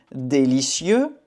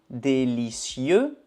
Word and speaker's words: délicieux: acheter comprare acheter acheter délicieux délicieo délicieuse délicie ok il faut faire attention à la prononciation masculin Délicieux délicieux féminin. Délicieuse. Délicieuse.